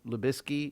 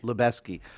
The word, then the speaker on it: Lubezki: But, I mean, how do you pronounce the DP's name? Lubisky?